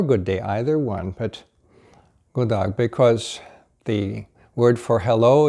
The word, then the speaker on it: God dag: God dag. God dag. God dag. And the D here is silent, pronounced as if it were G-O-O. God dag.